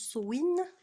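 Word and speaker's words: Samhain: je crois qu'on prononce Sowin.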